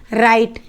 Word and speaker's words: write: क्या है, इसे WRITE, लेकिन हम इसको भी क्या पढ़ेंगे, राइट, और इसको भी हम राइट पढ़ेंगे।